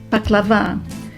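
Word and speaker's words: baklava: in your mouth and paklava with the accent on the last a paklava which is made with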